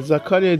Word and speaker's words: Zakaria: Hadi be Zakaria diye okunur ama bizimki böyle bok mu okuyor ya.